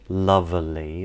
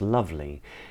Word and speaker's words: lovely: So for instance, the E in lovely isn't pronounced lovely, it's pronounced lovely.